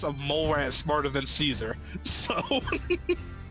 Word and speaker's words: Caesar: the Roman legions, but the pronunciation of Kaisar is because the survivors saw like Caesar's Palace in New like in Vegas and said Kaisar like pronouncing it wrong like because they read it wrong.